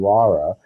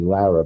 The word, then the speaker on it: Laura: Laura Parker who was I always have to remember to pronounce her name Laura my Brooklyn accent gives me Lera but it's really that and she was an